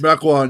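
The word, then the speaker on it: Mequon: Uh, so you were from is it Mechcoin? Is that how it's pronounced? Mecoan.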